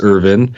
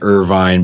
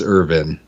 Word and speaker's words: Irvine: in New Brunswick so the way that we pronounce my last name is Irvin but because most people don't recognize that sometimes I do say a vine because people recognize Irvine California but the way my family pronounces it is urban all right all right